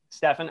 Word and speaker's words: Stefan: I don't know if you pronounce it Stephen or Stefan, but you know, Stefan.